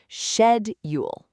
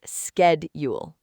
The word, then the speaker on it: schedule: No, the correct way is shedule. Shedule, not skedule. Shed. That first syllable is so important. It's shed, not sked.